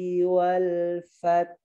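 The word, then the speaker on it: وَالْفَتْحِ: Jadi ke hak, ya napas yang keluar bukan suara desis. Jadi gini bacanya ya. Idza jaa nasrullahi wal fath.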